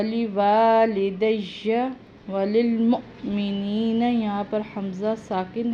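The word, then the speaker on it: وللمؤمنين: वलिलमुअ्मिनीना, मोमिनीना नहीं पढ़ना, वलिलमुअ्मिनीना यौम यक़ूमुल हिसाब, हिसाब हा हलक से निकलेगा।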